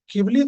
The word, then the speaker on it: Ghibli: मतलब you think ये भी Ghibli ने pick up किया. And it's not Ghibli, yeah? It's Ghibli. It's not Ghibli. वो spelling Ghibli है, but it is pronounced as Ghibli.